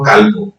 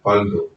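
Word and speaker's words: قلب: Nah ini juga penting karena banyak juga kita melapaskan kolbu itu kalbu, kof dengan kaf. Sebenarnya maksudnya adalah kolbu, cuman karena lapas pengejaan bahasa kita jadi kalbu.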